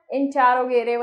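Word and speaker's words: interrogative: इंट्रोगेटिव, कुछ लोग बोलते हैं इंटेरोगेटिव, इट इज the correct pronunciation of this word is इंट्रोगेटिव, यस.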